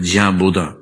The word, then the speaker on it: Bodin: 16th century में gene बोदा नाम का आदमी, जिसको अंग्रेजी में बोडिन तरीके से लिखते हैं, BODIN, फ्रेंच उच्चारण इसका बोदा होता है, जियां बोदा, जीन बोडिन।